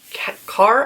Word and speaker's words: Kaur: Kaur, I think is how you say it.